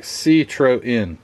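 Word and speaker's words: Citroën: really quick side note how to pronounce Citroen and I think that's how you pronounce it I looked up a quick video on the YouTube and it says let's see It'll play citro citro it's like citro in citro in okay so uh anyway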